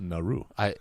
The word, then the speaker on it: Nauru: the islands and now I'm so Micronesia Oh Nauru Palau oh it's pronounced Naru okay Palau PA Lau Pilate pull out below